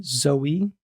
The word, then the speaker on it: Zoe: Zoe.